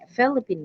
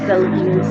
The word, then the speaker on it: Philippines: Uh, the products that I use is more than 10,000 pesos Philippine money, Philippine. Chinese people pronounce Philippines as Philippine. They pronounce Philippines just like Philippine, so they have their own words.